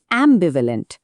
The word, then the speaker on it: ambivalent: আর সেই শব্দটা হলো অ্যাম্বিভালেন্ট। উচ্চারণটা একটু খেয়াল করতে হবে। বি ভ্যালেন্ট সোজা কথা এর মানে